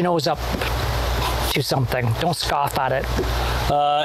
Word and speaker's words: scoff: It's S-C-O-F-F. Scoff? Scoff. Scoff. It's not plural. It's not like scoffs.